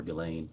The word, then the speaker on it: Ghislaine: As best as we know, it's been publicly reported that in 2024, Ghislaine Maxwell, or Ghislaine, I think is how it's pronounced, arranged and wired $1 million to Publicist